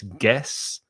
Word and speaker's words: guess: spanish speakers try to say guess no it's guess guess i guess so guess what i had